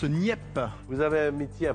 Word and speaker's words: Nieppe: Ça se prononce NIP.